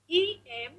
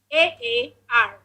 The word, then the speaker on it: Emaar: So the spelling of IMA is it's spelled as Emaar. Emaar.